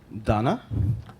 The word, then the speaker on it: Donna: Donna, I had a good, she told me how to remember her name. It rhymes with mana.